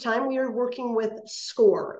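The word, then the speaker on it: SCOIR: we are working with score it is spelled s-c-o-i-r it is pronounced score and this is as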